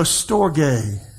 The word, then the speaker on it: storge: the little asterisk over the e but it's pronounced storge and this is affectionate love or a love